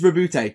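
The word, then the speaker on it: Roboute: So it's not Robo Girly Man? No, it is Rabute, despite the fact that it has no bloody accent.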